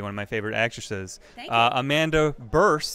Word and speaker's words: Bearse: of my favorite actresses Amanda burst that is how you pronounce it that is how you